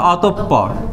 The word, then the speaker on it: অতঃপর: দেন পরেরটা পরেরটা স্বর্গ দেন একটা দিয়েছেন এটার উচ্চারণ কি হবে অতঃপর আর এটা হবে অতঃপর বোঝা গেছে আপনারা বললাম ধরতে পারেননি আমি যদি